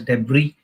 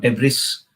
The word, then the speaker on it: debris: cause de flow okay it's pronounced as de and not deis okay so it will